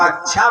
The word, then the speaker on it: कक्षा: कुछ लोग कक्षा बोलते हैं उसको, तो उसमें 4 छा नहीं होता। क और श संयुक्त अक्षरों से बना है, इसलिए हमारे शब्दों का भी उच्चारण हमारा भ्रम में परिवर्तन हो गया।